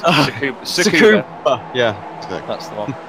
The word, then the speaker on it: Tsukuba: So yeah, it's the new circuit that Ryan tried to pronounce, isn't it? Yeah. Okay. Matt Bunn called it Sue Barker's house. It's Tsukuba.